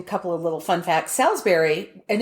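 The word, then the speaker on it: Salisbury: here's an interesting couple of little fun facts Salsberry and it's so funny because the people there pronounce it like it's spelled b r r y Salsberry oh hard on the berry um this is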